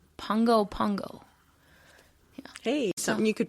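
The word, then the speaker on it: Pago Pago: capital of American Samoa, which is pronounced Pongo Pongo.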